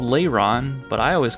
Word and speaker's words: Lairon: This one's called Lairon, but I always called it Lairon.